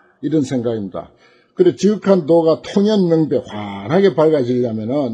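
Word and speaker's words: 洞然明白: 그래 지극한 도가 통연명백 환하게 밝아지려면은 이 통자를 이제 여기서 이제 통연명백이라 그렇게 발음해요. 동자죠. 무슨 동 무슨 동 청룡동 남산동 할 때 그런 동자이지만은 여기서 이제 통이라고 발음합니다.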